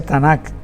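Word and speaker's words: Tanakh: Eh, es un abreviado TNK que más adelante se le colocó un vocales, en este caso la A, donde se pronuncia Tanac, que significa Torá, neviín y ketubín.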